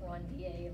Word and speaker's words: Ranvier: And this is someone's name, it's a French name. So pronounce it Ranvier, like Perrier.